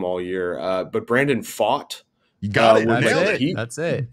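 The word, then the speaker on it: Pfaadt: mean, this poor young man, I've been purposely mispronouncing his last name all year, but Brandon Fought. You got it. That's it. No, I know. We on our podcast, we've jokingly called this poor fellow Brandon Fat for no reason, just because we're children.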